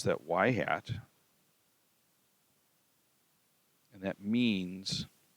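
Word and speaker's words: ŷ: plus 7.6 4 6 4 x okay we pronounce that y hat and that means it's the predicted y so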